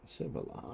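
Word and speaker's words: Sivala: Civila. I actually pronounced that one right.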